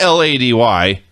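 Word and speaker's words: Lei'D: Lady, not L-A-D-Y. L-E-I-apostrophe-D, Lady.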